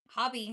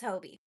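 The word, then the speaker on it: Hobbii: I heard somebody say Hobie the other day and I was like, is that really how you say it this whole time? I've been saying it wrong. How'd you get so far away? I don't know. Okay. But yeah, it's Hobie.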